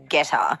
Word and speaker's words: Gettr: So landing smack bang in the middle of all those topics pretty much is a platform called Getter, and it's spelled Gettr. It's all in capitals.